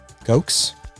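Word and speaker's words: Ghox: I'm going to probably butcher the pronunciation of some of these, but Gox, it's spelled G-H-O-X. Gox.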